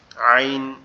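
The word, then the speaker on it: عين: এখান থেকে উচ্চারিত হবে কিভাবে গলা চেপে আইন আইন আইন আইন আইন এরকম ভাবে ঠিক আছে গলা একটু চাপ হবে উচ্চারিত হবে আইন আইন আইন আইন আইন এরকম ভাবে আইন এরকম ভাবে এটা উচ্চারিত হবে।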